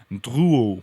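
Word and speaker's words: Drouot: about this CER this quarter in Paris called Duo which I find hard to pronounce but let me spell it for you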